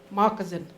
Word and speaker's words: moccasin: It's actually Moccasin, and moccasin is shoe. So that's why it. So if you ever hear anyone pronounce it moccasin, it's because that was the original word, changed to moccasin.